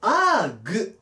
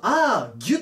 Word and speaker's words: arg: 読み方なんですが、調べたところ、アーグ、もしくはアーギュと読むそうです。